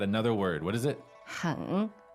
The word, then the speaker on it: 很: 很 H-E-N, third tone. 很.